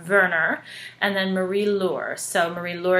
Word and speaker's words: Werner: They are Werner, and it's interesting because he's German, so it's spelled with a W, but we know it's also pronounced a V, so it's Werner, and then Marie-Laure.